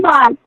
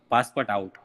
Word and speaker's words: Passepartout: Passport. John Passepartout. The pronunciation is John Passepartout. Passport nahi, Passepartout. Don't confuse.